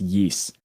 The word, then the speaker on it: Ys: It's spelled YS, but I've heard it pronounced Yeast.